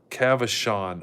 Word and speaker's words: Cavachon: It's pronounced Cavachon. Okay, thank you, Cavachon.